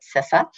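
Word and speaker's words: CISA: news you know in sisa and i have to tell you that because it's a hotly debated topic but we pronounce it cesa um the cyber security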